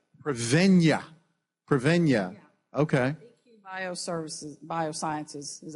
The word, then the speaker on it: Prevennia: pronounce it? Prevennia. Prevennia.